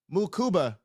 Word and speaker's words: Mukuba: Moo Kuba. All right. I'll say cuz you know I got to make this stuff for the drunk. I'll say this, bro. If you got Andrew Mukuba, I said it right, and his twin is